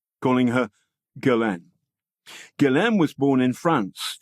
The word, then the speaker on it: Ghislaine: Bill Sweeney no relation went with a hard G calling her Galan Galan was born in